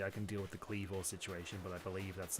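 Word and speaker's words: Kleavor: believe you every time you say Cleavor. It's. I believe there's an O before the R, and that's why I'm saying it that way.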